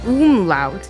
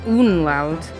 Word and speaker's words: umlaut: Oh, umlaut, not unlaut. Umlaut. Alright, look, see, I knew what it was, I just said it wrong.